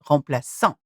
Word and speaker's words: remplaçant: If it didn't have a cedilla, then the sound will be K, remplaçant. But that's not the word. So, remplaçant.